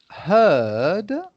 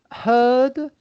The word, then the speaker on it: heard: verb to hear uh heard okay it's the same pronunciation as uh the collective name for a group of cows which is a herd okay so heard and heard is exactly